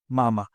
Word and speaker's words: mama: It is pronounced as mama. That's what it means, mother. And stress is on the first ma, which means last but one syllable.